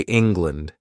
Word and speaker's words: England: You know, we say land, but we don't say England. This language which we are learning, our language, 200 years they ruled us. The pronunciation is England, not land, but lend. Did you understand? Air becomes a sound because the stress is elsewhere.